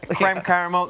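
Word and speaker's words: crème caramel: Is that how you say it? Or cream caramel? Creme caramel, so it's pretty simple.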